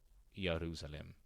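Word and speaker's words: ירושלים: the towns venerable name Jerusalem pronounce y yerusalem Jerusalem meaning the foundation of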